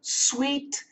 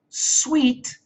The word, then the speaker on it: suite: It's the train sweet Shikishima train. T R A I N. Sweet.